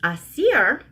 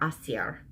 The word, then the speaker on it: Aasir: You kind of roll the R, Aasir.